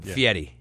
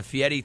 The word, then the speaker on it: Fieri: go with guy but the FI Yeti thing does confuse people once in a while in Italian e r i Edie f f Fetti yes yeah so I have to and you'll see it phonetically spelled out uh a lot of times and it'll be fe- d d i e like some guy named Eddie's got to pay a fee I want to tell